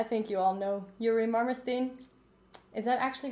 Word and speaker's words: Marmerstein: Well, I think you all know Yuri Marmerstein.